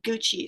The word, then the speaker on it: Gucci: there is nike and gucci so anna can you tell me an example of a clothing store um so that's very good but this word is pronounced gucci so can you please